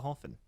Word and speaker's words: Verhoeven: by pulled over hopin I've been saying pool by over the years I recently discovered you pronounce it to the Hoffman master Dutch pronunciation yet here maybe first